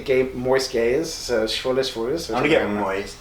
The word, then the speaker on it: Schwules: It's Schwules. It's apparently one way to pronounce, one pronunciation is like Schwules, the other one is maybe Schwules or something, and one means gay and one means moist.